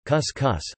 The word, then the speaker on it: cuscuz: Couscous, Portuguese pronunciation, cuscus, a popular recipe usually